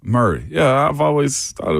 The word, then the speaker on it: Maury: Why is Maury Murray? Maury is that's pronounced interesting. Murray. Murray.